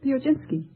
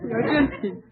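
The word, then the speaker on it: Piechocinski: how do you pronounce your name? Pioginski. Would you mind spelling it? P-I-E-C-H-O-C-I-N-S-K-I. Now pronounce it again. Pioginski.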